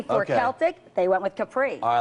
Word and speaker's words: Celtic: Well, Joe Biden's code name is not Celtic for the Boston Celtics, like some of the Secret Service are having trouble keeping straight right now. It's actually Celtic with a hard C.